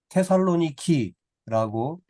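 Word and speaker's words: Thessaloniki: 하는데 데살로니가 지역의 데살로니가는 지금의 그리스 지역의 그리스라는 나라의 북구 지역의 테살로니키라고 지금은 발음을 그렇게 합니다 뭐 예전에도 그렇게 발음했지만 성경에는 데살로니가라고 이렇게 쓰여져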